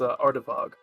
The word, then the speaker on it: Ardevog: If you're just wondering how to pronounce it, it's Ardavog. Alright, Ardevog.